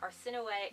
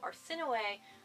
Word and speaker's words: Arsinoe: I actually had to look up the pronunciation of Arsinoe because I was not about to call her Arsino throughout the entire book. So Arsinoe, that's how you pronounce her name.